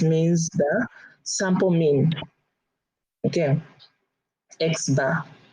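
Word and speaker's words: x̄: okay it just means the sample mean okay x-bar it's a sample mean and that's great which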